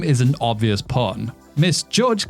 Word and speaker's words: Miss Judge: Miss Judge also sounds like the word misjudge, right?